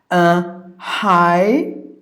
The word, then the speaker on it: hyperbole: And the next word is hyperbole. Hyperbole. There are 4 syllables. Since you got this schwa, it is optional. Either you can make it hyperbole, or hyperbole. Either way, both are correct.